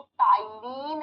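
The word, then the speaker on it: ptyalin: एक नाम होता है इसको टाइन अमाइज भी कहते अब आप आपने तो प से लिखा है प प्रोनाउंस के समय साइलेंट हो जाता है आप कहोगे हिंदी में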